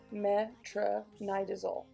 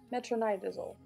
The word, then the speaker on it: metronidazole: about it is an anabolic and it is pronounced metronidazole metronidazole which is also called flagyl so these are